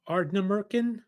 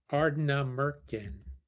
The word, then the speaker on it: Ardnamurchan: So they're both from Ardnamurchan. Sure. That was pretty good. Ardnamurchan? Sure. I do pronunciation well.